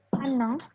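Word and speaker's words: พนัง: Ini kan bacanya dinding kan artinya? Dinding. Panang. Bacanya gimana? Panang kan? Iya, panang.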